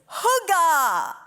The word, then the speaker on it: hygge: word is drumroll please whoo gah I'm gonna teach you how to say it and then I'm gonna share what it means so we're gonna split it up repeat after me whoo gah now we're gonna put